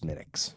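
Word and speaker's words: Smithwick's: smithwicks yeah oh okay but it's it's pronounced smittix gotcha because it's Irish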